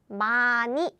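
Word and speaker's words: 많이: pronounce by the way even if the pronunciation is different we still spell like this spell like this okay so John ah H Miss and what happens is bye-bye here bye-bye bye-bye so is pronounced as Mani very good Tarana and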